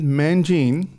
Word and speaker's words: Mangini: For the second time, talking with David Mangini. That's it. You pronounced it well. It used to be Mangini.